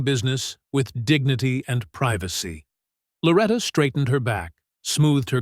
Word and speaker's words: Loretta: "Is it Lorita?" "Lorita?" He drew out each wrong pronunciation, making sure everyone could hear. "Loretta May Johnson," she corrected softly but firmly. "Like it's written there.